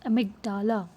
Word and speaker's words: amygdala: A tiny brain structure called the amygdala, pronounced amygdala, keeps track of experiences that trigger strong emotions.